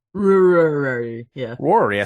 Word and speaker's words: Rory: My wife wanted to name our daughter Rory, except she can't pronounce it. Usually comes out closer to Worry. Rory.